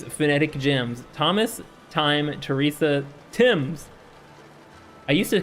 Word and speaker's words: Thames: I used to call this the Thames, by the way, for you British people in chat. I used to call it the Thames before I knew it was supposed to be pronounced Timms. Thompson, Chatham.